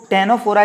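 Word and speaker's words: Ctenophora: कई दोस्तों को लगेगा टेनोफोरा है तो यहाँ पर सी क्यों बनाया है? तो दोस्तों टेनोफोरा की स्पेलिंग सी से ही स्टार्ट होती है, इसलिए हम इसको CCER करके याद कर सकते हैं।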